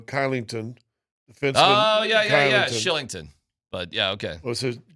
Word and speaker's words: Kylington: Shillington. But yeah. Okay. What's his I know he spells it with a K, but it's pronounced Yeah. There you go. Shillington.